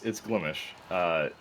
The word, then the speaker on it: Glimesh: Like, no, it's Glimish. They don't overpronounce mesh.